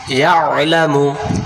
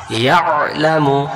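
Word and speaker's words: يَعْلَمُ: গলা চেপে পড়তে হবে, এই জন্য আমরা এখানে ভুল করে পড়ি। আমরা বলি ইয়ালামু, ইয়ালামু, তখন ইয়া জবর ইয়া, লাম জবর লা, মিম পেশ মু, ইয়ালামু। তাহলে আইন অক্ষরটা গেল কোথায়? আইন অক্ষরটা বাদ চলে গেল।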